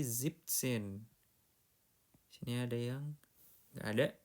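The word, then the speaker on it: siebzehn: Zipsen bukan Zenin tapi Zipsen.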